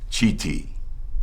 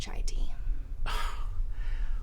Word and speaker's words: chai tea: enjoy my tea huh let me guess Chiti it's pronounced chai tea look I know Ricky